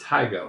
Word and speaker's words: Tigo: Today we are here to discuss Tigo. No, it's pronounced Tigo. I looked it up.